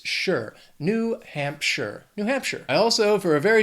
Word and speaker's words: Hampshire: Now, that last syllable, it's not Shire. It's not like Frodo in the Shire. It's sure. New Hampshire.